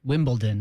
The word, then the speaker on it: Wimbledon: Check it out. Wimbledon. It's a D. It's a heritage event. It's a grand slam. It's the most famous event in the sport. You should know how to say it.